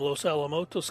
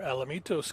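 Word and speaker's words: Los Alamitos: and one Evan Junior from Los alamotos California or Alamitos California depending on your pronunciation played at Oklahoma yeah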